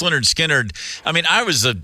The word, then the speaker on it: Lynyrd Skynyrd: you know the B the band you know pronounced Leonard skinnard I mean I was a little kid when